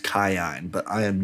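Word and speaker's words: Kiin: what the heck and it's it's her uncle Keen. Kion apparently his name is supposed to be pronounced Kion but I am not saying that.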